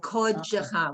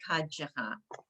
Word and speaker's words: kodesh: Okay, like kodesh. We don't say kadesh.